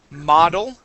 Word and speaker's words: model: v model mod okay you started out very well but towards the end it started to switch to an o sound okay so bod model okay let's say B body V uh-huh model model and modern modern good